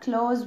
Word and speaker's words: clothes: Today we're going to talk about the clothes we wear. يعني الهدوم اللي احنا بنلبسها. هنعرف اسامي الهدوم مع بعض ونعرف نطقها الصح ازاي. الاول كلمة clothes يعني ملابس، بنطقها نفس النطق بتاع كلمة close اللي هي اقفل او يغلق، اللي هي حروفها كده.